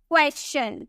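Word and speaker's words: question: उसी तरह से वेरी कॉमन क्वेश्चन, कोई से क्वेश्चन बोलता है तो कोई से क्वेश्चन बोलता है, लेकिन इसकी करेक्ट प्रोनाउंसिएशन क्या है? आपको यहाँ पर एस के बाद TION देखने को मिल रहा, एस के बाद TION देखने को मिलेगा, तो यहाँ पे हम चौ में प्रोनाउंस करेंगे, हम इसे क्या बोलेंगे?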